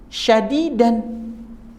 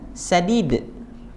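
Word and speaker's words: شديد: Syadid dengan sadid. Ya. Masih ada yang belum bisa membedakan shin dengan sin? Hati-hati kalau ngaji. Bahaya. Ya. Inna adzabi la syadid, dibacanya inna adzabi la sadid. Sesungguhnya azabku, azab Allah itu sangat lembut. Sementara kalimatnya la syadid, azabku sangat keras, sangat pedih.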